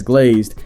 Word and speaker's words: GLZD: I type one message, pronounce GLZD as glazed, and don't say glazed too many times.